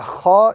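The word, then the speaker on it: خ: The letter kha is pronounced with a little bit of a grating sound coming out of the throat of the individual.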